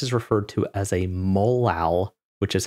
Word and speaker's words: molal: So whenever we have a 1M, this is referred to as a molal, which is how you pronounce that.